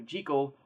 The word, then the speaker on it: Jekyll: Jekyll and mr. Hyde and that actually is the correct pronunciation written by Robert Louis Stevenson and published in eighteen eighty six The Strange Case of dr.